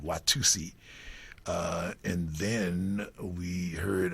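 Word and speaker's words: Watusa: we went to Watusi although it's spelled uh w a t-u-s-a it's we always called it Watusi uh and then we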